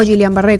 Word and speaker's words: Guillain-Barré: consiste el síndrome del guillain-barré o Julián Barré como se pronuncia diferentes maneras adaptado al al Castellano hoy vamos a